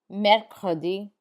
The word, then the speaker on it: mercredi: Pay attention to the R sounds in this one.